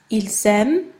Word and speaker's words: ils aiment: Notice that j'aime, il aime, ils aiment, they are all pronounced the same way. So even though this one here has an ENT in the end, it's still pronounced the exact same as j'aime here, that only ends with an E.